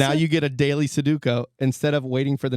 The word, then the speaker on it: Sudoku: You say Sudoku wrong. It's Sudoku.